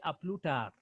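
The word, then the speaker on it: à plus tard: Then the next one, say we the S pronoun is silent. So we say a plus tard.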